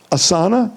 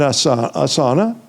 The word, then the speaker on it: asana: to practice but they didn't know how to pronounce the words even asana. Have you ever heard that word? Asana. I don't mind people going and taking having an assa asana.